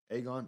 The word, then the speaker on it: Aegon: Aegon.